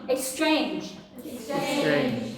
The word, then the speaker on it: exchange: 14 one okay everyone exchange okay exchange where is the stress ah the second syllable very good so it's Exchange the next the second